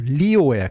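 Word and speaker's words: Leo: 황도 12군 가운데 하나인 사자 자리인데 7월 23일에서 8월 22일에 태어난 사람들이이 사자 자리에 해당되고 영어식 발음은 레오가 아니라 주로 리오에 가깝습니다.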